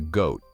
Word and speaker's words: GOAT: A lot of people called themselves the GOAT. The GOAT is an acronym that stands for Greatest of All Time. It's pronounced like the word goat.